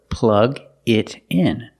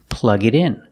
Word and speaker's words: plug it in: So, plug it in. Pronunciation, plug it in. The T in it changes to a fast D.